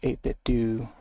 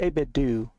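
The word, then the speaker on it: 8BitDo: I gotta tilt up this way so you can see the 8-bit do. It's pronounced 8-bit do, and not 8-bit do, as you would initially think.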